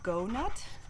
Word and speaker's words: Go Nut: So it's called a Go Nut. So it's kind of like donut.